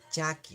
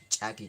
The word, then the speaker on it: chaki: Acuérdense, cuando hay un apóstrofo, se tiene que pronunciar como si nosotros estaríamos haciendo reventar o explotar algo, ¿no? Chaki, que es diferente así, chaki. Suave, simple, ¿no ve?